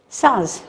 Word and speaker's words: Tsars: Petersburg, the city of the Tsars. We will not pronounce T, it is silent, Tsars.